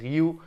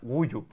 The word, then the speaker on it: Guiu: cómo se pronunciaba porque es un apellido Catalán muy Catalán que es guu pero yo al principio cuando lo leí dije Ah pues ha metido Mark guyu o mar en abote